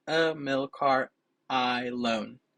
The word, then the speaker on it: Ahilon: it's a mil car I loan so like if you say I loan to the bank I'm really happy with